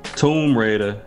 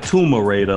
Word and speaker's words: Tomb Raider: edition of Gears Forza Tomb Raider not tumor Raider like some people pronounce in their videos shot tumor raater no